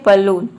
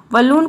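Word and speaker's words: balloon: जैसे कि देखिए यहाँ पे है बलून, बलून को हम बलून प्रोनाउंस करते हैं, यहाँ पे बॉलून नहीं होगा।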